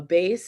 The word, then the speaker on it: bass: lowest voice is a base and it's b-a-s-s but it's not pronounced bass like the fish and i think michael